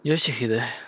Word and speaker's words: Yoshihide: 아니, 그 글자는 그렇게 읽는 No, 게 아니라 that's not how you read those letters. 요시대라고 읽는 거다. Yoshihide, that's how you say it.